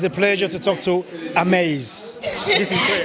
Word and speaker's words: Amaze: Is that the right pronunciation? Amaze TV. Oh, Amaze. Okay, Amaze.